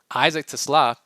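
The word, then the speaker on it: TeSlaa: And then his fellow rookie, his teammate Isaac Tla, which is how you pronounce it apparently because he's Dutch.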